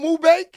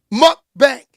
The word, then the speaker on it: mukbang: In those but how you say it again, Tom? Mukbang? Mukbang.